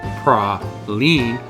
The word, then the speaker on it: praline: New Orleans Rich history pronounced ra Lean by locals they are a source